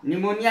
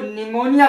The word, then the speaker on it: pneumonia: से पूर्व आया क्या प साइलेंट रहता पम साइलेंट है देख लीजिए इसको निमोनिया बोलते हैं ना कि पोनिया एक शब्द होता है